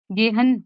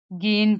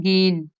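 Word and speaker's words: gehen: जो गेन verb है इसको हमने गहन नहीं करना गेन पढ़ना है जब भी मीठे में आएगा तो हमने हा को थोड़ा साइलेंट करना होता है और एन पर हमने थोड़ा सा लंबा करना जैसे गेन और यह उम्मीद है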